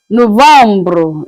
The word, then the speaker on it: Novembre: November is pronounced as Novembre. Then the last one is December.